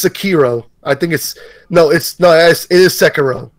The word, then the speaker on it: Sekiro: Like I didn't know how to pronounce Sekiro. I still don't until you said it. Sekiro.